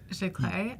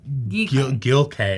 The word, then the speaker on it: Giclée: How do you pronounce the Gilcee word? Giclée, Okay. I think. I pronounce it. Before I pronounce it. Gilcée or whatever, No, I don't and think that's that's not correct.